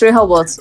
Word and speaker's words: Rehobot: It's Rehobot. You're right. Rehobot. You see that? You don't pronounce the T, I think.